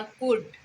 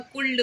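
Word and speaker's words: could: दो भाई का नाम शुड और कुड, जिसको हमारे बहुत सारे बच्चे ना शुल्ड और कुल्ड बोलते हैं। तो शुल्ड और कुल्ड नहीं बोलना है, एल उसमें साइलेंट रहता है। फर्स्ट डे जब हम स्कूल में आए थे उस वक्त भी हम बताए थे, एल जो है उसमें साइलेंट रहता है, तो हम लोग उसको क्या बोलेंगे?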